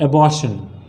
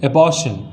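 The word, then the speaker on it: abortion: इसको क्या कहते हैं, एबॉर्शन, एबॉर्शन नहीं, क्या कहा जाता है, एबॉर्शन। बहुत सारे लोग इसको एबॉर्शन कहते हैं, एबॉर्शन गलत वर्ड है, इसका जो उच्चारण होता है वो क्या होता है, एबॉर्शन।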